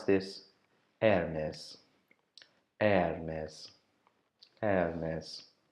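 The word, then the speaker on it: Hermès: this brand it's like Hermes and this is what I've been calling it her mez but in French they don't really say the H so we should pronounce this Airness Hermes and there's it's another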